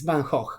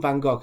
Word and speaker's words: Van Gogh: is how it is because he's dutch and in dutch the g is not pronounced as a g it's a so it's banh hoch guys anyway you can call him van gogh if you want so